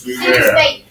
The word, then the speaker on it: Sumer: That's how it's pronounced, Sumer.